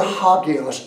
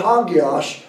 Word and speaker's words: hagios: He says, from the Greek word hagios, H-A-G-I-O-S, is how we'd spell it in English.